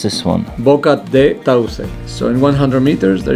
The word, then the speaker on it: Boca de Tauce: How do you pronounce this one? Boca de Tauce.